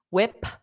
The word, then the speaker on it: whip: So same with whip, I don't pronounce that p, whip. I just say whip.